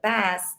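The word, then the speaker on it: Bast: egyptian times bassette b-a-s-t it's not spelled like how we say it but best is how you could say it but that said is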